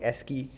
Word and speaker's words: ASCII: is obtained from this table called the SK key table okay now uh there are many online resources all right to to where you can go and download this table so how do you spell it ska s c i i okay and basically what